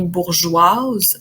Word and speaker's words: bourgeoise: C'est pas le cas, par contre, du mot bourgeois. Au féminin devient bourgeoise, alors le E à la fin, on l'entend, il n'est pas muet.